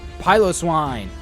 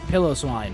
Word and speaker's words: Piloswine: sound you are correct if you said Piloswine or pillow swine however you want to pronounce it now silver for one